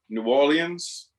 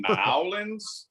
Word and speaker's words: New Orleans: be new orleans in apostrophe or l-i-n-s or new orleans which is closest to the original french or